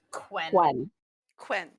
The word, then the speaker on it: Quen: be quinn q-u-e-n q-u-e-n it's going to be pronounced quinn so it sounds like quinn but it's quen spell that one more